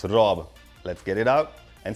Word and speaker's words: Rob: Okay, before I start anything, my name is Rob. Not Rod, not Rog, not Mad, Rob.